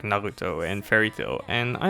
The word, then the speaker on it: Naruto: Stop pronouncing Japanese names in an American way. It's Naruto, not Naruto.